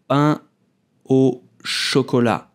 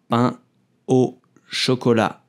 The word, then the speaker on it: pain au chocolat: So you will pronounce pain au chocolat. The sound pain comes from the nose. Pain au chocolat.